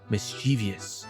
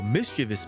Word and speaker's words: mischievous: Our first word today is mischievous, which I found out I think I have pronounced wrong my whole life. I used to always say mischievous, but as I was looking this up, I learned something just like you guys.